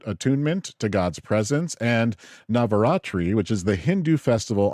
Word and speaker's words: Navaratri: Uh September 22nd through the 29th is Rashashana and Navat Navaratri is how you say it. Navaratri.